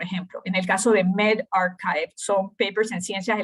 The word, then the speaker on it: medRxiv: Algo que es sumamente nuevo es este sistema de preprint, que no sé si han visto esto es MedRx1B, que se pronuncia medRxiv, ¿verdad? Archivo médico, o bioRxiv.